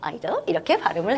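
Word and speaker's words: idol: 아이돌은 아니고요. 아이돌 이렇게 발음을 해요. 자, 그러면 내가 알고 있는 그거 맞구나. 이제부터 나도 발음을 그러면 아이돌 이렇게 안 하고 아이돌 이렇게 해야지.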